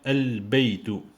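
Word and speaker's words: البيت: Pourquoi je dis des lettres lunaires? Parce que je prononce L, généralement. Plus baytu, ça devient al-baytu.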